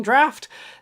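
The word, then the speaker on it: draught: The captain and his men down their rum in one long draft, then leave the tavern. I've never understood why that's pronounced draft, but that's how it works.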